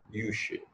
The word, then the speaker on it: Jussieu: یہ میرے حساب سے تلفظ یوشے ہونا چاہیے, عبرانی زبان کا نام